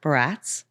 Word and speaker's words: Baratz: Um, today I have Todd Barats, which I've never said your last name out loud. Did I nail it? How do you say it? Barretts, but you could say whatever you want.